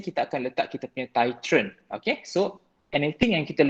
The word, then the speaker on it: titrant: Okay, analyte ataupun titrant. Nampak ejaan dia D Yang ni ejaan dia T. T-I-T-R-A-N-T. Titrant. Yang bawah ni titrant. Kena pandai bunyi T dengan D.